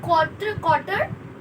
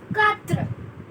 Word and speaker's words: quatre: It's not quarter, it's quatre.